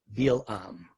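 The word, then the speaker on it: Bil'am: our topic right now you'll hear me use the hebrew pronunciation of the name as it appears in the biblical text bill um so balak decided to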